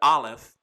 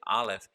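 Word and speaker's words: א: You know, the Aleph is really the picture of an ox head and an ox head of strength. But as a letter, it is silent.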